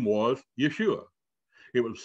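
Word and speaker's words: Iesus: it's pronounced it's a it's a greek word it's pronounced yeshua but then as later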